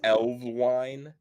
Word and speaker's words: Elves Vine: um uh but but elves Vine is pronounced elves wine but I wanted it